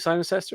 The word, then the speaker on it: Cirencester: and siren sester am I saying it right siren sester is that how you yes yeah part one